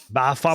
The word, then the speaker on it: Baphomet: Baphomet? How do you say that? Baphomet. Sorry. Bahamut. It is. It's Bahamut.